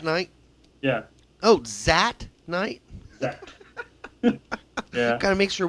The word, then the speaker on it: Zat: Zat.